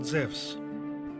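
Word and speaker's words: Ζευς: Zeus and the muses the name Zeus is actually a wrong English translation because correctly he is called zevs in the Greek language andu is pronounced like a w in the word wisdom Zev was the leader of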